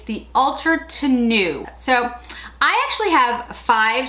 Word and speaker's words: Tenue: about the chanel and i always get the name wrong it's the ultra to new so i actually have five shades um let